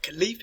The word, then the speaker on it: caliph: And after the death of Muhammad, we'll see the first caliph, or caliph, if you want to pronounce it that way, who was Abu Bakr.